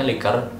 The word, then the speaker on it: liquor: yang tulisnya like were Jadi kalau untuk yang Liquor itu bacanya liker nakal yang leher itu